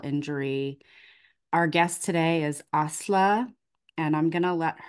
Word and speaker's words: Asli: Yeah, hi, my name is Asli, and.